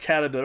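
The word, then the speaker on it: Cerberus: It's like Caraberus, it's pronounced like K because it's a K in the, yeah. So you spell with a C, right? But it's a hard K in Old Greek and Roman.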